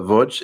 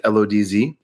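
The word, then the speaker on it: Łódź: the city is uh V it's it's spelled like to Americans it looks like lodz but they say V and um I would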